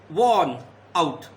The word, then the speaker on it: worn: My shoes are worn out. R is silent. Worn out.